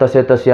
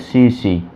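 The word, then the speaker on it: tsetse: कहीं पढ़ा होगा वहाँ तसे आ जाता है, एग्जाम में भी क्या तसे आ जाता है कि TSE तसे, ये नहीं है, इसमें टी साइलेंट है, जिसको कहते हैं CC।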